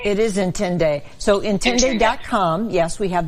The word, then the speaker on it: Intinde: How do you pronounce the name of your business, Angela? It's Intinde. It is Intinde.